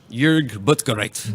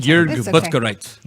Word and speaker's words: Jörg Buttgereit: Jörg Buttgereit. Buttgereit. Did I say it right, Janie? No, you said it wrong. You said it wrong. Jörg Buttgereit. Okay.